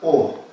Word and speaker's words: awe: de funcionamiento especial que se llaman O. AWE se escribe, si quieren después búsquenlo